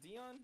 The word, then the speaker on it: Dion: That's how you say his name, Dion, right?